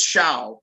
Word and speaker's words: Xiao: It's Shao, like Shao Kahn. Shao.